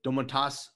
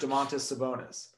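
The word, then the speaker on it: Domantas Sabonis: see that match up i still don't think you pronounced it correctly i think it's just damonte sabonis i think i said it right the second time yeah that's the matchup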